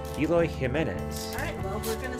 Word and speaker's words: Jimenez: It's not Jimenez, it's Jimenez. Jimenez. Eloy Jimenez.